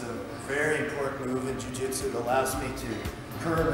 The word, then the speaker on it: Jiu-jitsu: Jiu-jitsu.